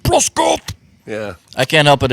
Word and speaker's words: Broscoff: If I was a hockey player, everybody would say my name right. Broscoff. Yeah, Yeah. they'd be like, Broscoff.